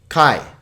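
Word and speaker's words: καί: But now here's an example of a word that is alpha iota, which is a diphthong. So this is just 1 syllable. Kai.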